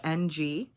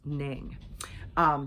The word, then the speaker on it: Ng: His last name is spelled N-G. I've learned to pronounce it Ng. You guys might also know him as Charles Ning.